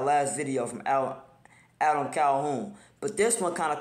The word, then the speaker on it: Calhoun: got your boy Adam Calhoun you know I'm saying y'all correct me in the last video I appreciate that you know what I'm saying y'all told me that uh you don't pronounce it Calhan I would have I